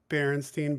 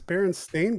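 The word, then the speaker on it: Berenstain: remember it bothering me when people would stay berenstein bears and i'd be like it's bearing stained bears like i like what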